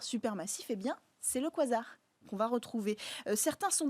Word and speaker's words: quasar: Alors, ces quasars, on appelle ça quasar. Pourquoi? Parce que c'est la contraction de quasi-stellar en anglais, donc quasi-stellaire, mais on a gardé la façon dans l'usage de le prononcer à l'anglaise.